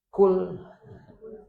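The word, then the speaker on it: قل: Mereka yang tahu artinya jika Anda menggunakan a*kaf* " makan." Jadi jika Anda salah membacanya, Anda akan salah menafsirkannya. Qul, qul ya ayyuhal kafirun. Makanlah, hai orang-orang kafir. Maknanya berbeda. Qul artinya katakan.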